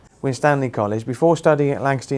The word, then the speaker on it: Winstanley: You went to Shvington High School and is it pronounced Winstanley College? Yes. Winstanley College before studying at Lancaster University where you got a first class honors in biochemistry and biio medicine.